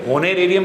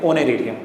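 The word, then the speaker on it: honorarium: इसके बाद हो गया बाय सेक्रेटरी ऑनरेरियम, ठीक है, होनेरेरियम नहीं होगा, ये एच इसमें भी साइलेंट होता है, ठीक है, इसको हम क्या बोलेंगे, ऑनरेरियम।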